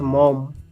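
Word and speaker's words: Maugham: by William Somerset mam William Somerset mam pronounced mom a William suet mom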